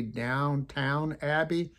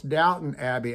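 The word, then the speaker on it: Downton Abbey: ought to look at it because I wasn't pronouncing it right. It's supposed to be Downtown Abbey, I thought. And they said, no, it's Doubtin Abbie.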